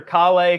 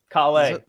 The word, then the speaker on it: Calais: Calais Campbell is Calais. The former running back is actually a Raymond Calais, and not Calais. It is Calais. It's the French pronunciation. It's a region in France too. You've all been saying my last name wrong.